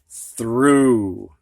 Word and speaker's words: through: And one ough word that I could think of sounds like long U, ooh. This word is what, students? Through.